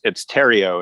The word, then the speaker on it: Theriot: It's Theriot. It rhymes with stereo.